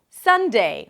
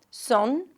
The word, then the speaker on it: Sunday: The first syllable is the primary stress, so it's going to be longer and louder.